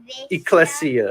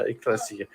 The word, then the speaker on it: Ecclesia: can you do you remember it can you pronounce it Ecclesia Ecclesia it's it sometimes often translated as Church like